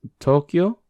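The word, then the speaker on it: Tōkyō: Tokyo, That's Tokyo. So to, o, kyo, o.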